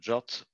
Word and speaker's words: JWT: format classification this is the jwt family pronounced jot i prefer the jwt